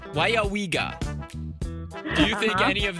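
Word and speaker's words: Weyauwega: It's pronounced Wayawiga. Do you think any of them were able to pronounce Wayawiga? No. All right. Here we go. Wayawiga. Wayawiga. Wayawiga. Wenawega?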